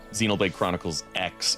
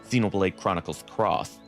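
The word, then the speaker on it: Xenoblade Chronicles X: I keep calling it Xenolade Chronicles X even though it's supposed to be pronounced Xenolade Chronicles cross. It's just that everybody calls it X.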